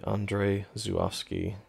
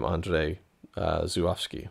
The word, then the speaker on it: Andrzej Żuławski: made more films, because the way I learned how to pronounce his name, which, again, I'm trying, it might not be correct, was from an audio commentary I found on YouTube for another film he directed, and he said, "Hi, I'm ANDRZEJ ŻUŁAWSKI." So pretty sure that's how you say it.